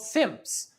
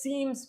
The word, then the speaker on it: SIMs: They're called sims. I pronounced them as seams, but I was corrected. Uh, they're SIMs. SIM EM.